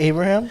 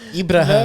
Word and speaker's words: Ibrahim: Oh, you want your name to be Abraham? Ibrahim. No, Ibrahim. Like like that's the only way to say it.